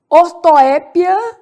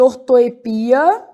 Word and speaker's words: ortoépia: Aí, nessa mesma lógica, nós vamos falar de ortoépia, que eu também posso chamar de ortoepia.